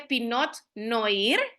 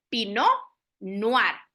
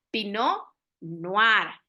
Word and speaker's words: pinot noir: que vamos a pronunciar pino noar verdad son dos palabras francesas porque de ahí tiene su origen y significa pino de